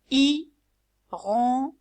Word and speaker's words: hirondelle: C'est une hirondelle. Hirondelle. I, le H il est muet, on le prononce pas. Donc I plus ron plus del est égal hirondelle.